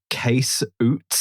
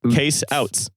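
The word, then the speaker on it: Ootes: Also, can we circle back to Case Oots? Yep, Case Oots. Case Oots? Or as you'd pronounce him in America, Case Outs.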